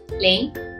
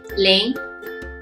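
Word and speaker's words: 零: to the gesture bit and also revise the pronunciation we learned ahead. So let's start. The first one, number 0. Ling, ling, ling.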